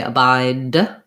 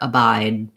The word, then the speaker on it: abide: the end um and notice that we might not say abide with the release of the d but rather abide abide like so you have to make sure you hold your vowel long enough so we'll perceive that as a d rather than a t if i said a